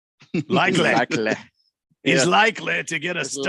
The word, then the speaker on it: Likely: I'm gonna pronounce it Likely.